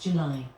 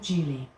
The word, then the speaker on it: July: July wasn't always pronounced July. 400 years ago, the stresses had a different flow, which meant that July was called Julie.